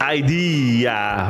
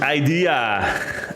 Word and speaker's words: idea: well I just learned I pronounced idea wrong because we we call it ID and the English version is idea idea they really pronounce the A and we don't do